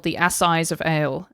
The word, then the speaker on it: Assize: an event called the Assize of Ale. And Assize is spelled A-S-S, don't get too excited, I-Z-E. Sort of like, think about it like arse size of ale.